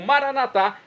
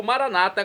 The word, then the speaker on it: Maranata: e agora eu clamo maranat como dizemos nossos católicos ou Maranata como dizem nossos irmãos separados os evangélicos protestant não importa a pronúncia o significado é o mesmo vinde Senhor Jesus um